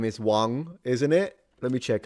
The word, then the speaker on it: Wang: Uh if you want to know how to pronounce it in Mandarin is Wang. So the G is fully nasalized. You don't pronounce the G.